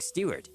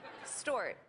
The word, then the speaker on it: Stewart: a hint by saying Stewart, because of singer Rod Stewart. The problem is that she didn't know how to pronounce Stewart correctly. Stort.